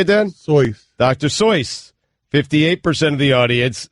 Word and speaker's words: Seuss: Seuss is actually pronounced doctor how do you say then soy doctor sois 58% of the audience said no why is